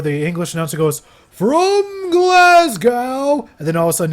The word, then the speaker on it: Glasgow: next week in glasgo it's pronounced glasgo ladies and gentlemen Kevin